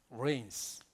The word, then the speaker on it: reigns: The Lord, 주께서 reigns 이런 단어를 써요. 우리 레인 그러면 비 온다는 걸 레인이라고 그러잖아요. 근데 발음이 똑같은데 단어는 전혀 다른 단어예요.